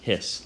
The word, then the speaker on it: His: okay but it is pronounced hiss like a snake bundle of hiss and